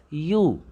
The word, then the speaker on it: ewe: Although it begins with a vowel E, but when we pronounce this word, its pronunciation is you.